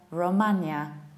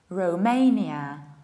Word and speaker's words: Romania: I usually hear Romania, whereas we should say Romania. Rounding O, Romania. The second option is saying Ru, like Rudy or Rufus, Romania, Romania.